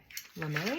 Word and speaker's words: lame: I used a tool called the lame I think is how you probably pronounce I think it's French l a m e there's an accent at the end it's just like a